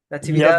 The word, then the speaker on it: Natividad: Natividad, right? That's how you pronounce Natividad.